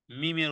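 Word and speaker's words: ميم: যেমন আল্লাতি এরপরে মিমের উচ্চারণ মিম কোত্থেকে উচ্চারণ হবে জি মিম মিম উচ্চারণ হবে হ্যাঁ দুই ঠোঁটের দুই ঠোঁট দুই ঠোঁটের জায়গা একত্রিত করে বা দুই ঠোঁটের শুকনো শুকনো মিলিয়ে বলতে হবে মিম দুই ঠোঁট মিলানো থেকে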